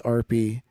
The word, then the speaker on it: Arpie: It sounds like two letters R and P right next to each other.